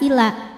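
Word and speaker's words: إلى: Wa idza qamu ila kalau berhenti di la hukumnya adalah mad tabi'i karena ada alif didahului fathah. Alifnya alif bengkok atau alif maksurah. Panjang 2 harokat apabila kita berhenti. Ila. Namun jika terus madnya gugur, lamnya dibaca pendek ilas.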